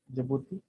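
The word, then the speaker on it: Djibouti: एक है आपका इरिट्रिया, एक है आपका जिबूती, स्पेलिंग का इसमें डी तो आता है शुरू में, उसके बाद जे के बाद जिबूती, और सोमालिया।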